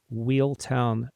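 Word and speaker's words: Wealtown: website, which is called Wheeltown Press. But wheel is spelled W-E-A-L, and which is the Old English and Middle English word for wellness. So Wheeltown Press.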